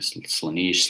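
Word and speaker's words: Slaanesh: You play Slanesh? Some people pronounce it differently. Slanesh, Slanesh.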